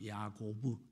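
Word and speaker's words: יעקב: 그래서 이제 뒷다리를 잡았다 이래서 야코프라 그래요. 야코프. 이 더 정각하게 발음하 야고브 야코브 자 그러면은이 뒷다리를 잡은 사람이 사는 인생은 뭐냐면 기회주의죠.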